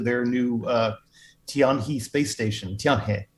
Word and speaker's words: Tianhe: Tianhe is to say it right.